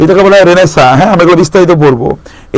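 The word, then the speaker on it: Renaissance: তাহলে ব্যারেনেজের পর আসলো বলা হলো কি রেনেসা, রেনেসিয়ন্স। এটা উচ্চারণটা কিন্তু রেনেসা, এটা একটা ফ্রেঞ্চ শব্দ।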